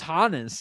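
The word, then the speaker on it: Hannes: I didn't realize it was Hanens. Yeah. Okay. Hanens Steinbach.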